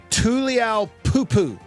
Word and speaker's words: Tuliaupupu: Montana linebacker Solomon Tuliaupupu. That's his name. It is a correct pronunciation.